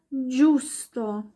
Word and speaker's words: giusto: Gelato wird ganz weich ausgesprochen oder Giusto.